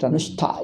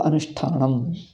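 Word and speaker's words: अनुष्ठानम्: Anushta, you can't, nobody can pronounce anushta. ಅದು ಹಾಗೆ ಬಿಡ್ತದೆ automatically. So when sa changes to sha, ta changes to ta. So anushtanam, like that.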